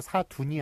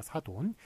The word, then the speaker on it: 사돈: 이기 때문에 그대로 사둔이 아니라 사돈. 우리 사둔 양반 이런 식으로 막 발음하는 경우가 많은데 사돈이 맞습니다. 사돈 한자 그대로 읽습니다.